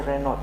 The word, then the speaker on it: Renault: In Zambian say Renault because we pronounce the T, but I think it's a French car designed.